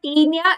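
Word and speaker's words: Taenia: tinia is linear okay remember teenia is rhyming with linea so there is linear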